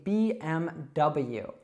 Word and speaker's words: BMW: It's just simply BMW. Now, a lot of learners want to pronounce acronyms like in their own language. Maybe you say every acronym as more of a word, like the whole sound.